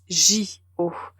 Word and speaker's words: JO: donc les Jeux Olympiques quand c'est abrégé ce n'est pas jeux haut mais Jo donc si vous entendez